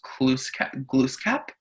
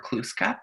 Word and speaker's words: Glooskap: There's this really old story about a person in Mi'kmaq history, and his name was Glooskap, or Kluskap, depending on how you say it. I believe Glooskap is the more correct pronunciation.